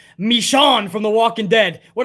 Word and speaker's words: Michonne: coffee on me and by the way it's pronounced michonne from the walking dead what i call michonne